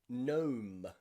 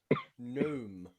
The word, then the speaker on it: gnome: are three times when the letter g is silent in english the first is when the g is paired with the letter n when you see g and n together like in the word gnome gnome or no but this